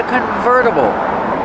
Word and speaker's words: convertible: It's a convertible. Pronunciation, converta. Verta. Use a fast D.